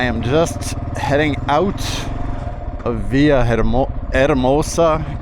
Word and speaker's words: Villahermosa: It's Monday morning and I am just heading out of Via Eramosa. Keep forgetting to not pronounce those H's. Via Eramosa.